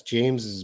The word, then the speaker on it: James's: out okay we got two how should we pronounce james's best friend james james's best friend i would say that's james's best friend james's james's james's james's james's best